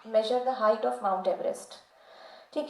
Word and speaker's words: Everest: His correct pronunciation is George Everest.